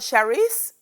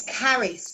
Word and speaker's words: Charis: It's called Charis? It's Caris. Caris. So it's spelled CH, and everybody's allowed one time to call it wrong.